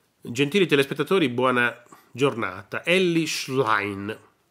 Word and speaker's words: Elly Schlein: gentili telespettatori Buona giornata ellish line mi hanno detto che si pronuncia così candidata alla segreteria del